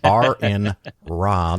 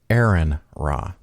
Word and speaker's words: Aron Ra: It's Aron Ra. That's the good way to pronounce it. It is not Aron Ra.